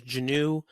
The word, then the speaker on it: Geneux: of my name is Janu kind of like j-u-h it's phonetically Janu Janu Janu so it's